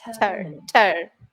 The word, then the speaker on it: determining: And the word stress is on the second syllable there. Yeah. Determining.